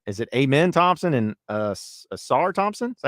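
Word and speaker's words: Ausar: Osir. Okay. Is it Amen? I thought it was Amen. So I was like, all right, cool. No, that is, but the other one, Osir.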